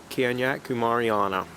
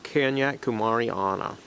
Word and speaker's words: kanyakumariana: and welcome to my little video of hoya kenyat kumariana i think i've got to be given a